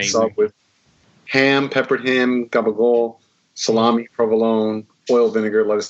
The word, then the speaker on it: capicola: I think the real name is capicola, but it's just like I worked in a deli in North Jersey for a while. Pronunciation is gabagool.